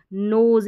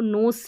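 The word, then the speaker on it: nose: है ट्यूजडे में भी नोज इसको नोस नहीं पढ़ते हैं इसीलिए इसको ज पढ़ते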